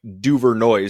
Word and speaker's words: DuVernois: And it is Clifford DuVernois, which is spelled like DuVernois, so it's DuVernois.